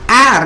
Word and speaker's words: heir: ஏர், இதனுடைய உச்சரிப்பு ஏர். ஏரஸ் ஏரஸ்ன்னு ஒன்று இருக்குது. இதுக்கு அர்த்தம் வந்து வாரிசு. நம்ம சொல்கிறோம் இல்லையா, வாரிசுக்கு இங்கிலீஷில் ஏர். ஏர் இதனோட ஹேர்.